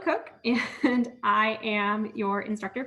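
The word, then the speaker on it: Koch: My name is Cook, and I am your instructor for Math 181. So it's like Kayla without the K, and then it's like a cook in the kitchen, even though it's spelled K-O-C-H.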